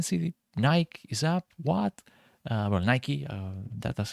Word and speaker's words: Nike: Nike, that's how you pronounce it.